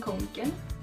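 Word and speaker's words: Kånken: Scrunchies, kanken backpack, I think that's how it's pronounced. Det gäller även kanken.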